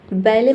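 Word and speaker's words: ballet: बैले मतलब होता है नृत्य। इसमें भी देखिए लास्ट पे टी है। साइलेंट रहता है।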